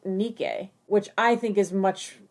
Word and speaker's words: Nike: for yeah um but if you were going to go with the actual pronunciation of the greek goddess name to the best of our knowledge it is pronounced nikkei which i think is